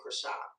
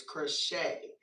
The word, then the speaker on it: Kreshai: Um, I did I put it that way because I felt like people always say my name crochet and it's not crochet, it's crochet.